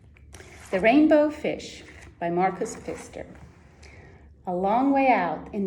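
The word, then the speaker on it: Pfister: sure we pronounce it feister in the united states it's actually a fairly common german surname so i would pronounce it as fister sister and i'm actually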